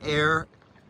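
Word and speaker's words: Aire: Comes from a company called Alpine Air. The air is spelled A-I-R-E.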